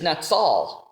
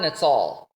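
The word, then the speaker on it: נצל: And the word deliver is natsal. So I think Solomon is using a little bit of rhyme here because the word watch over is natsar, natsal. So in the Hebrew, it rhymes.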